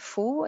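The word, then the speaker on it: 蝠: So as an example, I described bats, and since bats are called fu in Chinese, that rhymes with the word for good fortune, and that's why bats are a symbol of good luck in Chinese culture.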